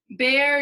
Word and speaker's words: Bayer: Bear used to be a Pittsburgh company, and it's spelled Bayer. It's a German company.